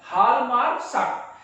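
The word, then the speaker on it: Hjalmar Schacht: हम यहां पर ये बताते हैं कि एक नाम है साइलेंट सेंजे हालमार्क साक, प्रोनाउंसिएशन इसका है हालमार्क साक।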